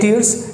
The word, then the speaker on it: tear: लेकिन गाइस इसी शब्द को हम लोग ऐसे बोलते हैं टेयर। जब हम इसको टेयर बोलते हैं सेम स्पेलिंग के साथ, तो इसका मतलब कुछ और होता है। तो टेयर का मतलब होता है किसी भी चीज़ को फाड़ना।